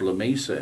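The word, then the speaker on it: Lamesa: but it was in a community called, it's pronounced La Mesa in West Texas, but it was within an hour's drive of where she lived in Odessa.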